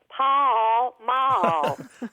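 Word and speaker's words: Pall Mall: after that you know in Texas we make everywhere at least two or three syllable so we would say Paul Maul bye I quite didn't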